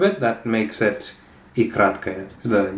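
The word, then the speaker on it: краткая: short I, that's I kratkaya. Where remember that this O is pronounced like an A because the stress is here, kratkaya. So this is almost like it's kaya, kratkaya.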